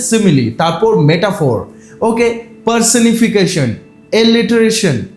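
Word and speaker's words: simile: থেকে তো দেখে নাও প্রথমেই রয়েছে কি সিমিলি এটির উচ্চারণ হচ্ছে সিমিলি তারপর মেটাফোর ওকে পারসনিফিকেশন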